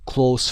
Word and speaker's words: close: as a close friend یادتون نره در تلفظش هم اینجا اومده چون صفت هست close خونده میشه، دوست نزدیک.